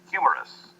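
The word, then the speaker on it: humerus: to hear how that anatomical structure is properly pronounced humorous if we were to want more detail about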